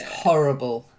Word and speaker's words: horrible: the first word horrible you've got to aspirate a bit horrible horrible that's it's not horrible